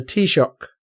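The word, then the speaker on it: Taoiseach: so anything so the the tea shock which is how I was told to pronounce it by the news quiz so it must be right um yeah he said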